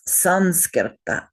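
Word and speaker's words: saṃskṛta: So we must change it to an N when we're writing it in as when you write it in devagari it stays m but it's pronounced n but when you write it in iast we change it to the proper n so it becomes sanska.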